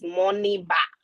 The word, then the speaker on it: Moniba: His name is not Moluba. He is Moniba, not Moluba.